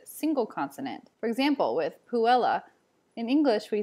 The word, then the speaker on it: puella: it like a single consonant for example with puella in english we say puella quickly on the double l but in latin you want to say puella for guessing you'd want to say guess see